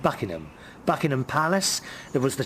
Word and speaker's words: Buckingham: went to bucking hat I know how you say it in America Buckingham Palace we say it Buckingham Buckingham Palace there was